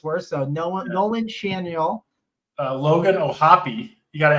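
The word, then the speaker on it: Schanuel: I think you managed to mispronounce 4 names in the Angels lineup in one fell swoop there. So Nolan Shanuel.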